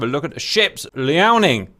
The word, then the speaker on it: Liaoning: Liaoning. Yes, I'm aware you can pronounce it a different way. I pronounce it Liaoning.